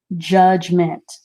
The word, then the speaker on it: judgment: g that you is a very soft d but you hear all these letters judgment j-u-d-g-m-e-n-t okay all right